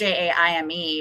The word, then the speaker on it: Jaime: Jamie, and it's spelled Jaime because that Jamie Summers spells her name Jaime as well. Wow, cool. Because in French, j'aime means I love.